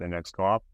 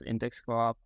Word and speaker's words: Index Coop: And thank you for pronouncing it, because I always thought it was Index Co-op, but I keep hearing like guests say Index Coop.